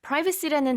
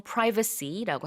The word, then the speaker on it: privacy: privacy라는 단어의 발음도 한번 짚고 넘어갈게요. 북미권에서는 보통 privacy라고 하고 영국에서는 privacy라고도 발음을 합니다. 그래서 발음은 둘 다 가능하고요.